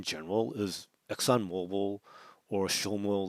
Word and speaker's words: XOMO: at uh x o I guess I'll pronounce it SHO um I was thinking just in general is Exon Mobile or showmo like a good deal